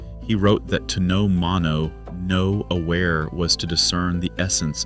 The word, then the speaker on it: mono no aware: And he finally gave it a name, three syllables, mono no aware.